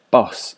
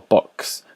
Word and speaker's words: Bosch: and the artist's surname would have been pronounced boss in his day but I pronounce it Bosch or box for the purposes of